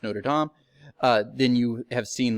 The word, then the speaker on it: Notre Dame: If you've ever seen The Hunchback of Notre Dame, correctly pronounced Notre Dame, then you have seen like they would have a thing where everything was reversed.